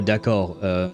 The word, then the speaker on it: d'accord: D'accord, I've never heard anyone pronounce the D at the end of d'accord. That, at the end of that word, the D is silent. We have a lot of silent letters in French.